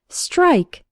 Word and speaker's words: strike: English vocabulary word of the day strike from espresso english. net first let's work on the pronunciation St almost sounds like there's a CH sound in the middle like Str Str it's the same as